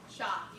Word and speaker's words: Shaw: c25 area Governor Mandy Shaw Mandy Mandy I always like to make certain I call people with their mama name them your last name is it pronounced sha or sh sha got sha perfect thank you Mandy making